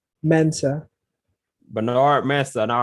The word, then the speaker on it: Mensah: How you pronounce that last name? Mensah.